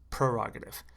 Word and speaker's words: prerogative: said prerogative per prerogative but they say pr prerogative very very subtle difference it's not going to